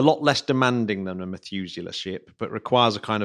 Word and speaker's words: Methuselah: The Methuselah ship, did I pronounce that right? Yeah, the Methuselah There we ship.